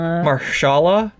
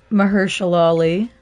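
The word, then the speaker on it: Mahershala: by marshall my god i don't know if i'm ever pronouncing his name right um marshalla maharshala mahershali there you go yeah but he plays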